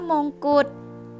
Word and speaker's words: มงกุฎ: คำ ว่า บาง บาด คำ ว่า มงกุฎ มงกุฎ ดอน ชฎา เป็น ตัว สะกด ค่ะ ไป ออก เสียง เป็น เด็ก ถ้า คำ ว่า พืช